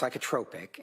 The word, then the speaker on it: psychotropic: It's pronounced psychotropic and okay it's psychotropic medication is uh medication